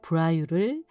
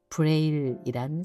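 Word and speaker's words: Braille: 프랑스 브라유를 영어로 발음하면 브레일이란 사실.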